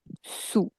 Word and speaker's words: sous: And the pronunciation, wherever there is u, see, sur and dessus, ou is ou, so sous and au-dessous.